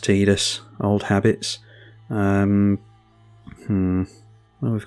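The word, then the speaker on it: Tidus: Tifa Lockhart versus Animpal Titus and Cotus. Yes, I know it's pronounced Tedus.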